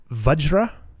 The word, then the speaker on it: Vajra: I looked it up apparently the actual pronoun pronunciation is vajra which is really strange um I don't like